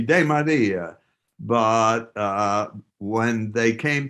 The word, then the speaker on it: DeMaria: used to say that's that's really not the correct pronunciation should be de maria but uh when they came to the states people said oh yeah demeria and they said whatever